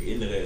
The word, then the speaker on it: innere: It's like, in English we say inner reflection, but in German it's like innere Reflexion. Yeah. So many people tend to leave out the last E letter of innere.